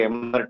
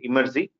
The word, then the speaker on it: Emertxe: of them people say MRX Mr Taxi Etc so the way to pronounce it imers are if you want to remember easily it's a reverse of the word extreme so we are an